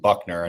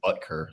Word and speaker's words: Buckner: Right now, I think who last name I butchered last time I was on this podcast, but DeForest Buckner. I think I said Butker like an idiot.